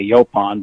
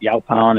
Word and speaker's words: Yaupon: yokan wellness company and although there's no specific pronounciation we say yo pond but y'all pound is a very common pronunciation that we get from people so we like the Obama but it doesn't it's not just neither right or wrong our company is I